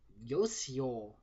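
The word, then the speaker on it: Uyo: Last one is Yosio. Now, this should just be the word you because it's spelled U-Y-O instead of Y-O-U.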